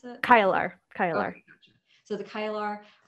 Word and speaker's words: Kailar: Is that how you would pronounce it? Kailar.